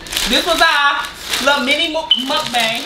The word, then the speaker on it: mukbang: This was our little mini mukbang. How do you actually say it? This is our mini mukbang. That's how you say it. Mukbang. Nah, how you saying? Buck bang. How you saying? Mukbang.